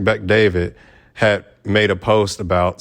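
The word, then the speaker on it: Bet-David: where Patrick uh yeah Patrick David yeah that's how you say his name Patrick Beck David had made a post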